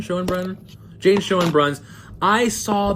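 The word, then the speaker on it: Schoenbrun: and topic is Jane is it Shen Brun is that how you say it I believe sh and Brun Shen Brun Jane Shen Bruns I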